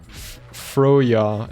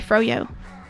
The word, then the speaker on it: froyo: India, do you say froya instead of froyo? I say froyo, because fro and yo are that's how you pronounce them. But if you put YOG together, then it's yog.